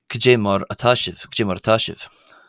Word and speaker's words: Caidé mar atá sibh: would be more than one person would be kajarash. Uh and breaking that down again to be pronounced it is ka j k marachas marash.